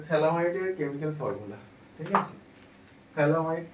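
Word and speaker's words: phthalimide: এই গ্রাভিয়াল থ্যালামাইড সিন্থেসিস রিএকশনটা আগে কি সেটা একটু ডিসকাস করি।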